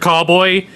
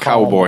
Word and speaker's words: Callboy: check out Electric Callboy. They're fucking amazing. If you get the chance. Callboy, not cowboy.